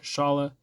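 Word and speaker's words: Šalé: everything uh coming from a Czech League it's pronounced Shala um he is now uh participating in the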